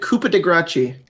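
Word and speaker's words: coup de grâce: Go to sleep, coup de grace, move on. Yeah. It's pronounced. It is said "Coupe de Gracie."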